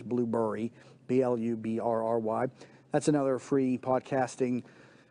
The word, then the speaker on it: Blubrry: Blueberry, which is spelled Blubrry. There's no E in it. It's not Blueberry. It's Blueberry.